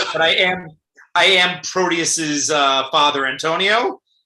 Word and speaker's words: Proteus: play is that how i say my name proteus yes proteus yes it's my first reading of